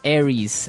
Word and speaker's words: Aries: And u So it's pronounced Aries. Aries. A r i e s.